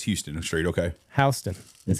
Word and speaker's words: Houston: Okay, Houston is how you pronounce it.